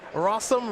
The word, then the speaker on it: Rossum: work on magic online by rossum rhymes with awesome which i guess you